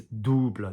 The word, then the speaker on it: double: The pronunciation of French for double is double, this OU coming down onto the chest.